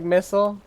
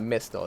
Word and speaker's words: Mistle: it is pronounced like missile i kept saying that but my brain wanted to keep pronouncing the t so it's not mystical it's missile like mistletoe